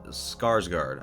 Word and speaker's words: Skarsgård: Soler and still in skarsgård I believe is how you say it I'm sorry if